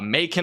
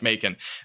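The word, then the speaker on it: Macon: the winds continue to increase again look at maon mon I think it's mon over in mon Georgia it's a weird pronunciation mon Georgia we're probably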